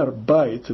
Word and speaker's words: arbeitet: arbeitet né se pronuncia arbit o e i dá a i né arb mas aqui